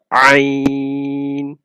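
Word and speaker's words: عين: Ain. This comes from mid of the throat. Ain.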